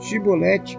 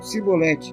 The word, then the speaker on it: chibolete: E dizendo ele: "Não, então lhes diziam: Diz pois, chibolete". Porém ele dizia: "Sibolete, porque não o podia pronunciar bem".